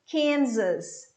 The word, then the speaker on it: Kansas: word talking about arkansas i just remember kansas kansas sound of z as well okay for kansas one more tucson two